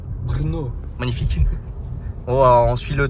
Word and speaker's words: Brno: Comment tu le prononces? Brno.